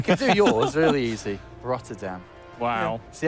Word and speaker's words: Rotterdam: Rotterdam. Wow. Yeah. See how good that pronunciation But is? Dutch people would say like Rotterdam. Rotterdam.